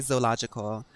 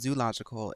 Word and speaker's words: zoological: That it's not actually pronounced zoological, it's pronounced zoological.